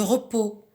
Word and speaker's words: repos: Le repos, j'entoure la lettre S qui est la lettre finale muette qui ne se prononce pas.